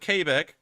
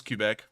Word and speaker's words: Quebec: probably trying to say cubic but mandy said kbeck and this is what happens when you open